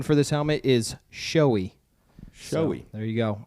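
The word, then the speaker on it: Shoei: The proper pronunciation for this helmet is showy.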